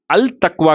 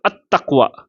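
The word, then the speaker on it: التقوى: தா அப்படிங்கிறது அப்போ அல் சேர்ந்துச்சுன்னு சொன்னாக்கா அல் தக்வா கிடையாது, அல் தக்வா கிடையாது, அத் தக்வா. எப்படி? அத் தக்வா. அப்படின்னு உச்சரிக்கும்.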